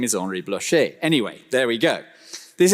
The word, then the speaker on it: Henri Blocher: His name, I was told by a French person yesterday, should be pronounced Henri Blocher. That's his name. Anyway, he was introduced in Australia as Henry Blocker, which was just rather wonderful.